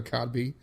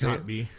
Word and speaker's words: Kotb: I used to call it Hoda Kotb because I didn't know it was literally just how it's spelled. It's Kotb. Kotb. Yep.